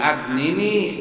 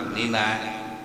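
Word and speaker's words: أَغْنِنِي: ya fa'alul lima yubid agnini bihalalikan haramika. Walaupun jadi imam harus bacanya agnini, ulah agnina, agnini itu ulah agnina, itulah membaca agnini namanya diroyah, kalakuan Rasul, sesuatu yang dibaca oleh Rasul.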